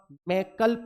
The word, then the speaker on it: मैकल: श्रंखला मैकल पर्वत श्रंखला मैकल मैकल बोलते हैं उसको है ना इंग्लिश में एम ए आई के ए एल होता है तो इंग्लिश में प्रोनाउंसिएशन मैकाल निकलता है उसका मैकल पर्वत श्रंखला रिक्ष